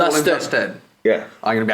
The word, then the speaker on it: Lustin: Lustin. It's Justin with an it's Lustin with a J, apparently. What? Spelled Lustin, but it's pronounced Justin.